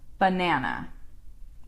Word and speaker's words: banana: So that first A is like ba. It's an sound. Banana. Banana. Ba. So instead of like it being an A sound like Anna, it's ba. Banana. That first A is a schwa.